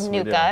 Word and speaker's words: NUCCA: Drummond, you do a very specific kind of treatment called NUCCA.